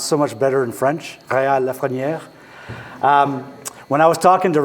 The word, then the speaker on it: Rheal Lafreniere: Rheal Lafreniere.